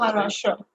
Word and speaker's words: Maharashtra: How do you say the state? Maharashtra. Maharashtra? Maharashtra. Yeah. Maharashtra.